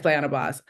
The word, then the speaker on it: Flyana Boss: I actually never pronounced it out loud, but I love Mm. it. Flying a boss. Yeah, it's Flyana Boss.